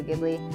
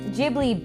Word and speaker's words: Ghibli: his name doctors video ghibli i mispronounced it because when I was first learning about them I didn't know how to pronounce Japanese words population closing cutie cat